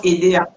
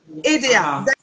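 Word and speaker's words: Édéa: se prononce EDA ou EDA ed ça se prononce EDA EDA d'accord qui se trouve entre Douala et Yaoundé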